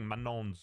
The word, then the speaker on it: Manon: Anyway, Pokémon admits she's embarrassed for mispronouncing Manon's name from Katzai this whole time. I am so embarrassed because I only just found out that Manon from Cats's name is actually pronounced Mano.